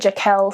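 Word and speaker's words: Jakel: can pick one store jackal or Jackal they pronounce it jaquel so we're I'm going to go with that oh wait there's more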